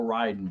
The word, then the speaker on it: Raiden: there's a character named well they call ryden but spelled the same it's like casey yeah